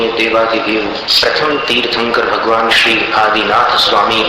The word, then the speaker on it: प्रथमं: प्रथमम ऐसा मत बोलिए, प्रथमं जिनेन्द्र, अंजन जैसा उच्चारण।